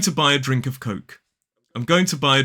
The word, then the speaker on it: Coke: So for example, in a sentence, I'm going to buy a drink of Coke.